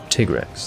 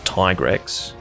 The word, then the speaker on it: Tigrex: answer would be laziness his name is tigarex which is pronounced tigrex thank you very much not tigrex you know just because there's an i in there doesn't mean you say i yes the letter on its own would be pronounced i but if it's you know surrounded by specific consonants it makes it an e sound you see that's how